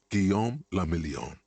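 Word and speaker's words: Guillaume Le Million: meant only one thing guillaume lamillion what does that mean if it doesn't rhyme you're not pronouncing it right out of the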